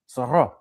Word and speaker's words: Zorro: Because it's in French, you got to give the French pronunciation of Zorro. Of Zorro. Right. Zorro.